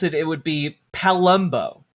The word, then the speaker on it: Palumbo: It's spelled p a l u m b o. So, if I were to over-pronounce it, it would be Palumbo. Like like Columbo, but Palumbo.